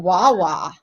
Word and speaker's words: Wawa: And then also, guys, I just found out about Wawa. Is that how you say it? Yeah, you're doing good.